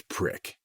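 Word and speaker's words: PRC-E4: Gerard told another new soldier in me to go to the supply cage and ask for a PRCE4, pronounced as prick.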